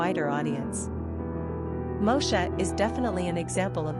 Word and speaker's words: Moshe: Pronunciation, Moshe.